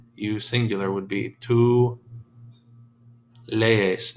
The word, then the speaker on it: lees: You singular would be tú lees. Notice you pronounce both vowels. They are not one sound. They're two syllables.